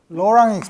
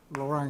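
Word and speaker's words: Laurent: ect 전에서의 즈 션을 로랑 펜션이라고 불러요 프랑스 사람이라 비에 있는 거 발음 안 하고 로랑 익스펜션 로랑 익스팬션을 보기 전에 먼저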